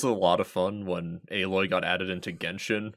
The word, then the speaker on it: Aloy: Dude, it was a lot of fun when Aloy got added into Genshin, so all the Genshin players were making their videos and calling her Alloy. Oh no. And just never bothered to look up a pronunciation.